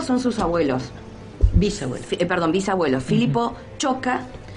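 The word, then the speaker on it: Ciocca: Se pronuncia Choca, que ese es otro gran tema en nuestra región, el tema de la escritura de los apellidos.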